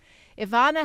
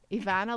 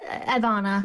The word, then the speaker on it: Evanna: Well, people just don't pronounce the E. They say Evanna, but you just said it perfectly.